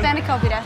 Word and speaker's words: spanakopita: SPANAKOPITA.